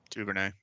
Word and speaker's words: Duvernay: Duvernay.